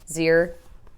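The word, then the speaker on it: xe: It's with an X, but that's how you would pronounce it, right? Like X-I-R would be Zir, and X-E would be Z. I'm fairly certain. It wouldn't be like Xi. I don't think so.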